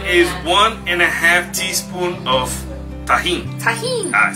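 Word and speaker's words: Tajín: Tajin.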